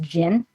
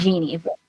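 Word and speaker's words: jinn: so he's cursed by I think it's pronounced Jin not Genie by Jin um to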